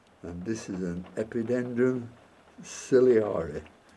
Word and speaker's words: ciliare: And this is an Epidendrum ciliare, or ciliare, all depends if you want to pronounce it phonetically, but I use ciliare.